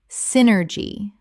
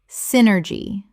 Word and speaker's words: synergy: Synergy. Correct pronunciation. Synergy. 3 syllables with the stress on the first and the Y making an I sound.